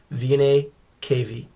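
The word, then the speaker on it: venae cavae: A's it'd be v-e-n-a-e-n-c-a-v-a-e anytime you see that a and the e at the end it's a plural and you just don't pronounce that a so you go straight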